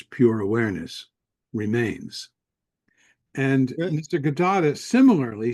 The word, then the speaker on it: Nisargadatta: Nisargadatta.